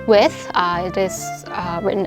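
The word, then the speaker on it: WE:TH: this album is pronounced with uh it is uh written as w e i a colon t and it is a combination of the word we along with with with the actual with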